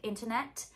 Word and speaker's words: internet: last t could be a true tea like internet it could be a glottal t like internet